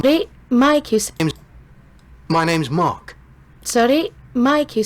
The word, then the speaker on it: Mark: please two my name's Mark sorry Mike you say no Mark m-a-r-k now I see you don't pronounce the r no not in my